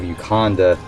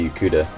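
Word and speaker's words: Yokuda: They came from the island of Ukanda, or Yukuda, I should say Yukuda. That's how you pronounce it.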